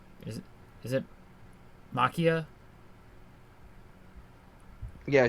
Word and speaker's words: Machia: I never pronounced that dude's name right. Is it Makia? Yeah, Gigantomachia. Makia, okay.